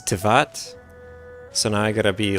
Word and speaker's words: Teyvat: Because I used to say Teyvat. I think it's Tevat.